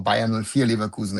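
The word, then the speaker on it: Leverkusen: So I don't think that um Bakusen or Bayulkusen if you want to say it properly that Bay and Nulia is doing bad for themselves.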